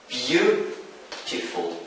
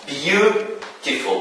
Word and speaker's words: beautiful: So in three syllable words, the stress generally falls on the first syllable. We have an example. Beautiful. Beautiful. So we have three syllables in this word or in this adjective. So beautiful. So the stress falls on the first syllable. So beau.